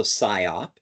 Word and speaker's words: SIOP: So you are pronouncing it correctly. So SIOP, and that stands for Sales, Inventory, and Operations Planning, oftentimes referred to as Sales and Operations Planning.